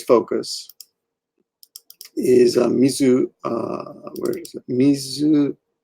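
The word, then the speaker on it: 自ら: Mizukara. But that's the kunyomi, but it's kind of a rare use.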